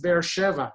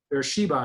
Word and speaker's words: Beersheva: Sometimes I see the word, take me a moment to realize, oh, it's Beersheva, especially when in English they're saying Beersheba, you know, they're like making it a B instead of a Va.